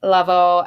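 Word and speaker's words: Lavoe: toss betx by Hector Lavo pronounced Lavo as if to say la Laos right the voice in Spanish and Last Ride of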